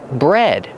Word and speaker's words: bred: Breed in the present, in the past, bred. Pronunciation, use a short eh like head and red. Bread, just like the bread you eat, but it's spelled differently.